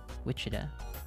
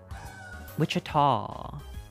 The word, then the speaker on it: Wichita: you uh how do you say this Wichita Wichita Wichita 316 is Wichita did you just know this you just know this offhand I have never been to Kansas in my life Wichita okay it's right next to Wichita damn I